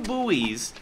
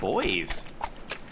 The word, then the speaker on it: buoy: depending on the region some people say buoy some people say boy I say buoy B buy if we